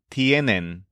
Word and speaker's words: tienen: All of their conjugations stress the syllable yen. Tiene for the store owner, tienes for the kid, and tienen for the pandas.